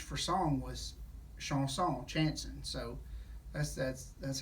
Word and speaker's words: chanson: behind that his name is lyric chanson and chanson pronounced in french is sean song which is french for song so uh he's